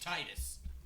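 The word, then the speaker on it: Tidus: not because it pronounced it should be pronounced Titus I I do yeah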